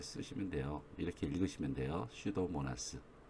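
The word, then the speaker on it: Pseudomonas: 되요 이렇게 입으시면 되요 슈도모나스 여기서 피는 묵음 이에요 그러니까 아홉수 세워도 나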